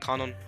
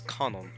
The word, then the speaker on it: Kanon: stuff like that cannon canon sorry i pronounced i pronounced his name canon but his name is conor that's how they say in japanese at least and i wanna i